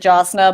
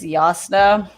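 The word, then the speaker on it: Jasnah: been pronouncing the j so when i read the book the first time i also did jasna but also in the audiobook i think it's yasuno i've heard a couple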